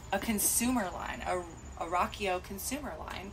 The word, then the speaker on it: Riakeo: we will Rocko so the brand is pronounced Rocko like we will rock you you know she said